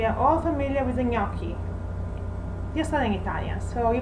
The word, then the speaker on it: gnocchi: gnocchi at least once on the menu so gnocchi and i bet there's nobody pronouncing the donkey i never heard that so